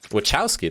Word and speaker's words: Wachowski: hello lily wachowski here wachowski that's how you say it okay i'm glad that